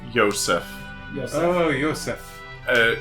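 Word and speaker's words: Josef: pronounced Joseph yes oh Yosef uh I believe it's supposed to be like a Hebrew or something pronunciation um a man living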